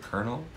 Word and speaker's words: colonel: I realize that colonel is spelled weird, but even 5th graders can probably read the word colonel as colonel.